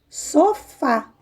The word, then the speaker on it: sofá: Sofá com acento no A, na última letrinha da palavra, na última sílaba. Então, ela é uma palavra oxítona, tá?